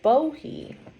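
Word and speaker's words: Bohea: sang sushong is a bohee so um uh bohe is the pronunciation of the menon dialect of wuhi so bohe and wuhi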